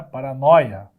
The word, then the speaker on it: paranoia: beleza outra parada aqui alta palavrinha para ó paranóia e também tinha assento certo o assenta daqui ó no Oi é paranoia certo não tem mais mas